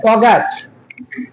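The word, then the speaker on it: forget: जैसे एक वर्ड होता है फॉरगेट। इसमें आर का उच्चारण नहीं होता। फॉरगेट इज the right pronunciation.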